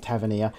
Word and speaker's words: Tavernier: that's actually how you say it it's called Tavernier this is our second episode we are on